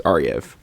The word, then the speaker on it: Ariev: So you change the W to a V, and then you can pronounce it. So it's Ariev.